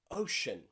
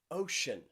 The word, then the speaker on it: ocean: to be quiet okay this can also be a way that we pronounce the letter c think about words like ocean ocean or financial or precious special or even special you are all very